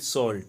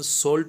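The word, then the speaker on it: salt: The field was white, खेत सफ़ेद था, एज इफ, मानो, कवर्ड विथ सॉल्ट, मानो कि वो नमक से ढका हुआ। देखो इसकी प्रोनाउंसिएशन सॉल्ट होता है, साल्ट नहीं होता है।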